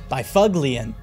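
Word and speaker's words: Byfuglien: Bufflin. Now you were talking my speed. Bifuglian is how it should be pronounced.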